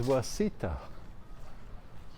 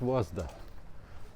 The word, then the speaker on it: Wasta: On the map it says Wasita, but they said it Wasta, so I guess that's how they pronounce it.